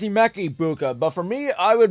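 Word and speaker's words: Emeka Egbuka: It's Emeka Ibuka, but for me, I would much rather get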